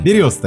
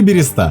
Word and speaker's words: береста: Верхний слой коры березы имеет собственное название — береста или береста. Допустимы оба варианта написания и произношения.